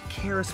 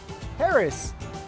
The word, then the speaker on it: Charis: 70 locations whoa now let's go check this chairs thing out No Charis Charis no like Karis with a cane but it's spelled with a ch charis no listen it's